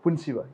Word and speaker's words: Punshiba: So it is pronounced as Punshiba? Punshiba.